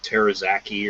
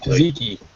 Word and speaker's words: tzatziki: yeah, the other 2 I saw were the cinnamon bun and I don't even know how to pronounce it, like terazaki or some shit like that. Tzatziki.